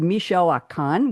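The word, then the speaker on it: Michoacán: I'm still trying to pronounce the three states. We have Guanajuato, we have Michoacan, we have Nayarit, and we have Tamaulipas.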